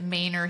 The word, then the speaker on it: Manor: rapid growth so hudo mayor yes we pronounce it mayor here even though it's clearly Manor this Dell Valley area